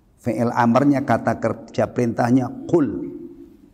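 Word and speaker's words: قُل: Fi'il amarnya, kata kerja perintahnya qul. Nah, ini begini ini kalau salah bacanya kul, ka ya. Kul makanlah.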